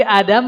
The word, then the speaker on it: Adam: buyut kita sahanyaanya Nabi Adam ya Ah Nabi Adam itu bacanya tuh Anya dua harakat Adam ya Jadi bukan Adam tapi Adam seperti Nabi Musa bukan